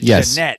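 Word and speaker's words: Ja'Net: And even though it was spelled Janet, she pronounced it Janette because I remember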